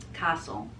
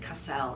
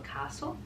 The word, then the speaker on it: Castle: She told me how to say her name because I said Cassell, and she said, not that it bothers me, she said, but just for your information, if you rhyme it with fossil, so Sheila Castle.